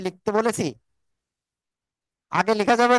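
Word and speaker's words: باء: হব হ্যা ওকে দেখেন দুই ঠোট দুই ঠোটের ভিজ অংশ থেকে এ অক্ষটা উচ্চারণ হবে বা কয় আলিফ টান হবে এক আলিফ এখন এক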